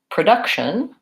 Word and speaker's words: production: my vowel sounds so product has first syllable stress productivity or productivity I think I say productivity productivity has provide a third syllable stress and production as second syllable stress production so those are